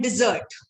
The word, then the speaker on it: dessert: Okay, there's a difference between desert and dessert. So when it is sweet, it is dessert. A desert is Registan. So you have to distinguish between the two in your pronunciation, desert or dessert.